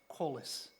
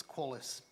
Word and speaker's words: Qualis: Firstly, the name of the company is Qualis. It's pronounced Qualis. So let's get this right, because it irritates me no end to hear people mispronouncing it. So it's Qualis.